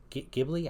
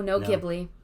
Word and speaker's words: Ghibli: What about studio, is it Ghibli? I always mispronounce the name. No, Ghibli.